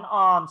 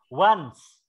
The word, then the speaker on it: once: Bukan ons, kan tadi udah. Once. Once. Cara bacanya once.